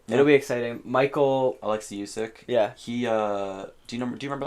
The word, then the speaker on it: Usyk: Alexei Usyk.